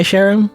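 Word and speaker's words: Charon: do you spell it c h a r o n right that's how you spell Sharon it's like the the Greek you know the Greek mythology you know Sharon like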